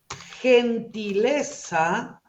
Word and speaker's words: gentileza: de la G Pero si yo digo gentileza se pronuncia como J esto uno lo clásico